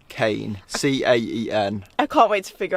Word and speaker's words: Caen: C-A-E-N. I can't wait to figure out how that's actually pronounced.